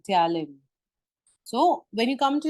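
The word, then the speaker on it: ptyalin: of SL Ames is talin all right p is silent here it is t y a l i n talin so when you come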